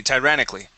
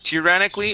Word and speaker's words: tyrannically: very good yes and that word is excuse me tyrannically yeah you can also say tear tyrannic or tyrannically was yeah so either either way is is acceptable with that word okay